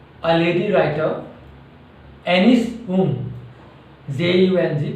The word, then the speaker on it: Jung: This story is written by a lady writer, Anis Jung, J-U-N-G, pronunciation is Jung, Anis Jung.